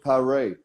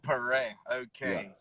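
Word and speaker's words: Paré: thanks for joining us my name is parray perein that's the brazilian pronunciation we pronounce pretty much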